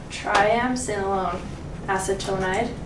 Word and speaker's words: triamcinolone acetonide: go ahead okay so my drug is uh triamcinolone acetonide that's how you say it and then the